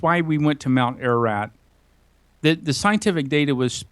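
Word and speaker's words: Ararat: physically tracked up Mount ER erat did I pronounce that correctly yeah you did yeah mount erat it's an Eastern Turkey it's the the high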